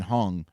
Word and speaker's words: Huang: Interesting side note, a leather jacket that was worn by Nvidia CEO Jensen Huang or Huang is how you pronounce the last name.